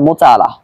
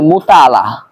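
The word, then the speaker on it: مطالعة: এটা সম্পূর্ণ আপনার মোতালা, এটা সম্পূর্ণ আপনার গবেষণা, অধ্যাপনা, অধ্যয়ন এগুলোর উপর নির্ভর করে। আমরা অনেকেই উচ্চারণটা ভুল করে থাকি, বলি মুতাআলা, মুতাআলা না, বরং মুতালা উচ্চারণ হবে।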